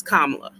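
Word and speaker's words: Kamala: say her name correctly someone taught me just say comma then love so it's KLA um and again we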